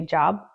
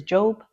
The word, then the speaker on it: Job: eov is job and some people say job because it's spelled like job but um but the Biblical term is job and the Hebrew term